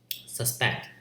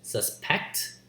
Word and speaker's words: suspect: English for example when you say word like suspect there are two ways of saying this word one is suspect the another is suspect the underlying part is that stressed syllable when